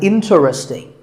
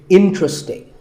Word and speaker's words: interesting: number 11 is interesting this is mispronounced sometimes as interesting but there are only three syllables and the stress is on in so the word is interesting number 12 is hotel